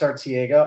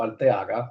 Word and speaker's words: Arteaga: great yeah absolutely uh ARA or for those of you that uh do speak Spanish alaga that would be the proper name my mom would want me to pronounce my name um I've been with